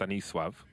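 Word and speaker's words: Stanisław: for an in-game leader Stanislaw in polish is pronounced any suave I haven't asked him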